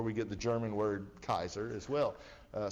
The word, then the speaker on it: Caesar: greek pronunciation of this they didn't have the soft c sound like we say caesar they only had the hard c sound which was kaiser right and so does